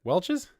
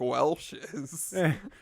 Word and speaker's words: Welch's: Welch's? You said like Welsh's. The Welsh.